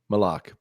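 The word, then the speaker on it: Maluach: Kaman Mulak? Malak? How do you pronounce that? You know? Malak.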